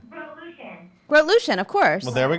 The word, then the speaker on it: Grotelueschen: Andy, how do you pronounce How do you Andy's- say Andy's last name? Revolution. Groot-Lucien, of course.